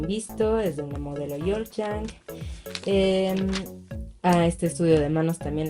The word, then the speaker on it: Ulzzang: Una chica Yulchang. Y bueno, es Yorchang. Perdón, ya busqué cómo se pronuncia, es Yorchang.